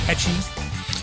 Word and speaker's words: Pecci: Did I say it right, Pecci? Yeah, Pecci's the right way. Pecci, yeah, it's Pecci.